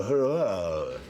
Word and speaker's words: Huayra: It's called the Huayra. It is. It's spelled h u a y r a.